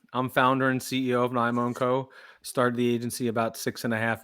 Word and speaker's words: NYMO & Co: CEO, owner, founder of how do you pronounce it? NYMO&Co. NYMO&Co.